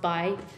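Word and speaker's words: 白: It's pronounced Bai.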